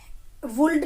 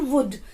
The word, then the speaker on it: would: वुल्ड नहीं बोलना है इसको, एल इसमें साइलेंट होता है, इसको बोलते हैं हम वुड।